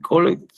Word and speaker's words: collected: He collected coins. Collected. En acento en la E.